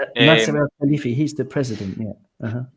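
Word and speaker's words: Nasser Al-Khelaifi: I honestly can't pronounce his freaking name. Nasser El Khalifi.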